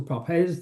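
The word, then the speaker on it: Papez: It gots its first real functional connotation by the work of Papes or Papz depending on how you want to pronounce his name who argued that there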